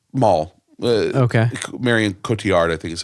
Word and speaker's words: Marion Cotillard: know how to say her name mall okay Marion Cotillard I think is how you say her name